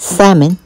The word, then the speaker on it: salmon: you've drained your salmon trying to make sure I don't pronounce that L that salmon remove the large bones